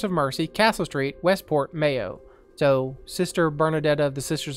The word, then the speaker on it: Mayo: uh my ale pronunciation mayo much like the condiment and uh you're going